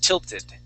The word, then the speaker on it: tilted: uh on this word because it has an L right there. Uh we could not say builded or sorry tilt tilded. Okay, we would have to pronounce that T. Tilted. Okay, so yes, if there is an L there, okay, we would not pronounce that uh that T as a D.